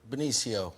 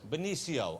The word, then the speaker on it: Benicio: Am I doing the pronunciation? Is it Benicio, Benicio? How do I say the name correctly? Benicio. Benicio.